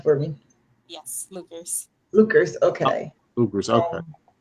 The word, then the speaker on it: Luckers: Right pronunciation for me. Yes, Luckers.